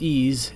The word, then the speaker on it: EES: EES, which is pronounced EASE, is an acronym for Engineering Equation Solver.